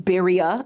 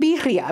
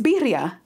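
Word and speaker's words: birria: had in this extra I don't mean bira I mean bira because it's two RS and it's in Spanish you married to a Puerto Rican you should know how to roll your RS you didn't need to add the but that's how you say it sounds like a money machine it's not bira it's bira I'm so done all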